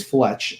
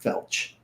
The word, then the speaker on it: Fletch: First of all, it's Fletch, not Felch. Fletch.